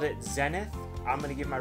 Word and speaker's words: Zenith: I think the English pronunciation is Zenith.